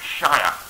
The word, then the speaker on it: shire: get like really posh people sheer it's it's pronounced shia but i kind of have an awkward moment